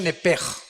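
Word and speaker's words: נפש: Apúntala, como suena nepesh, con SH. Se pronuncia nepej.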